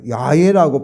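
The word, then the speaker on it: 야훼: 15절에는 우리가 여호와 여호와인데 여호와는 원래는 예외화에요 야외라고 발음하는데 하야 동사의 3인칭이죠 aa는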